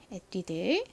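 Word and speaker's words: Etude: 이름입니다 어떻게 읽으시면 되죠 먼저 앞에이 프랑스어 단어는 에드라 읽죠 에뛰드 그다음에요 영어 단어는 어떻게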